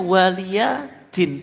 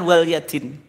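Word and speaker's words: وَلِيَ دِينِ: wfukum dan kekafiranmu terus waliadin itu bacanya waliyin bukan waliadingar kuno waladin Pak lakumukum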